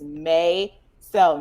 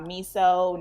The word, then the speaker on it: Mayso: And yes, pronounce my dog name right. As much as I say it on this show, it is May. So not miso, not whatever. Mayso.